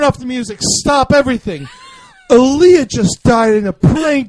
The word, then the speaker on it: Aaliyah: You got to make sure you pronounce both the A's. Oh, yeah. Leah. Yeah. Oh man, Queen yeah. of the Dam. If we could change Alito for Aaliyah, I think Aaliyah would still be alive.